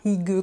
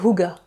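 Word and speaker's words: hygge: jamais comment on prononce, je sais que c'est pas hig comme c'est comme c'est écrit ici. C'est littéralement écrit en dessous, ça se prononce huga.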